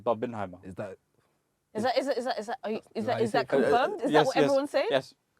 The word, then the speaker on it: Barbenheimer: It's Barbenheimer.